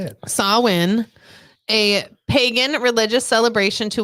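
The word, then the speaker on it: Samhain: in the ancient Celtic Festival of sawin sawin I always said Sam H for the longest time but you know it's not the right way to say it sawin a pagan religious celebration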